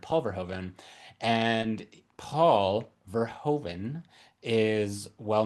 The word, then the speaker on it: Paul Verhoeven: Well, as Grant is saying, first name Pulver, last name Hoven, because it's just, is it, how do you say it? Like Paul Verhoeven. It's just all one word, Paul Verhoeven.